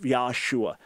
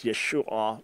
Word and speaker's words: Yeshua: the only debate and most degree it was Yeshua with that final ah sound but no argument that